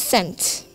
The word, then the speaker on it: scent: The next one is scent. The silent letters are C.